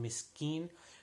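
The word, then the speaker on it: مسكين: sure the gaff and miss keen should be pronounced like a calf and not like a cough so again while you're held by Laura Millie miss keen next verse fell while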